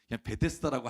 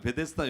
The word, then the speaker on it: 베데스다: 여러분 오늘 주인공은요 베데스다 그런데 사실이 베드 자다라고이 원래 원래 발음이 이렇다고 해서 세부적인 번역을 이렇게 했는데 저는 낯설어요 베데스다라고 할게요 베데스다 연못이라는 곳이 있어요 여러분